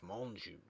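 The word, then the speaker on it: Menjou: silly things in it either the sniper adolph menju monju monsieur let's pronounce his name properly adolf monju who i am also used to see more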